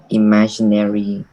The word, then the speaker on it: imaginary: children that usually involves imaginary creatures and magic all right just remember both of these G's here is like a d g imaginary and Magic Dudley the traditional started